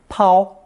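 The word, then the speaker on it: 抛: abandon or cast aside it's pronounced the first tone pow pow notice the two ways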